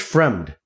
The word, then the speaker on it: Fremd: anthony hernandez defeating josh frame how do you pronounce it framed friend friend friend friend friend friend josh fremd yeah raquel pennington defeating aspen lad uh and